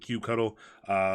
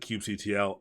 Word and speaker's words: kubectl: So they pronounce it, a lot of people pronounce it kubectl. Some people pronounce it kubectl. I call it kubectl, but I started trying to call it kubectl because that's what all the great Kubernetes people call it.